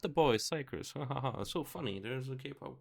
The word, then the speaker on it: Xikers: Pronunciation, Xikers.